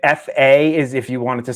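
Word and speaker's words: phở: Basically, like FA is if you wanted to say it like phonetically, I guess you would say it. Pho, FA. Yeah. That's how you would pronounce it properly.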